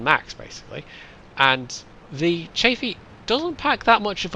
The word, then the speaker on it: Chaffee: is in the M24 chaffy I'm pretty sure it's pronounced chaffy I I did go and look up a pronunciation and I'm yeah I'm fairly certain I've got that right but I'm sure someone